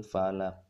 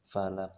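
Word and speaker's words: فلق: hukum tajwid Qalqalah Kubro jadi membacanya dengan mantul kita ulangi full a'udzu birabbil Falaq Hai nanti sudah benar jadi ketika membaca birobbil Falak Kok tidak boleh mantul birobbil of all about itu salah Ada ulangi cool a'udzu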